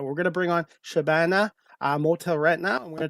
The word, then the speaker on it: Shabana: Shabana is generally what people call me Shabana, if you can pronounce it is the correct way. Shabbana.